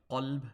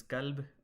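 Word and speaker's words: قلب: They can't pronounce the qaf and the kaf correctly. And what ends up happening, if you call qalb with a qaf, a kalb with a kaf, kalb means dog, whereas qalb with a qaf means heart.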